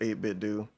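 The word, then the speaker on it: 8BitDo: People have told him one-on-one in his audience is pronounced 8-bit do.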